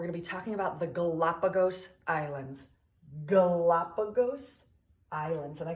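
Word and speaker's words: Galápagos: the den right well in the Galapagos we're going to emphasize the second syllable we're gonna say Galapagos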